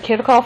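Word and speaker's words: Kirchhoff: what are known as kov or kof SLS different people pronounce it different ways so there are basically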